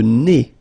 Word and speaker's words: nez: Le nez. So remember, when you get this combination, E, Z, here, at the end of a word, it's E.